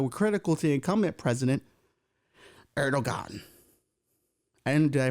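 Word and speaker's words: Erdoğan: critical to incumbent president erdogan and did I pronounce that right no Eran no kid it's like he's got ero and a thing over the G erog erdogan let's go with that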